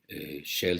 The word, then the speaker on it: shale: Shell se escribe S-H-A-L-E y que comporta precisamente lo que